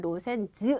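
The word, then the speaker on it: 路線図: 로센 이렇게 들어가시면 되고요이 도자가 좀 특이하게 읽혀요 그래서 시험에도 얘는 잘 나와요 그래서 어떻게 하냐면 로선도 아니라 여러분 뭐라 그러면 로센즈 아고 읽어요 됐죠 그래서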